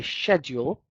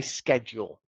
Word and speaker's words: schedule: I'm British, so I say schedule. Americans normally say schedule, so it's up to you.